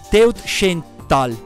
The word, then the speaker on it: Teutschenthal: Teutschenthal. Dovrebbe pronunciarsi così.